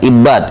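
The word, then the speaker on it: عِبّاد: Al-awwal bil kasr wa tasydidil muwahhada, Ibad, ya. Ibad, wasani bidham wa takhfifil muwahhada. Ibad sama Ubad.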